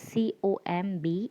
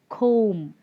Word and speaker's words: comb: the first word is c-o-m-b it's comb it's comb that is b is silent we only pronounce up till m it's com next word